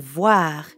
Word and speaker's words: voir: And voir is easy because it rhymes with soir, like in bonsoir.